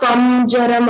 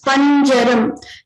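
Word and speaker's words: पञ्जरम्: And Panjaram, not Pamjaram or Panjaram. This is Panjaram.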